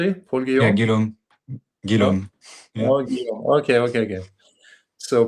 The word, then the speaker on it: Guilhaume: So, moving on to Europe and France, we have Paul Guom, AFC. Did I Did I Did I pronounce that correctly? Paul Gillum.